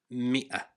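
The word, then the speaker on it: مئة: Pronounced mia. There are two ways to write it in Arabic with and without al if they're both pronounced the same.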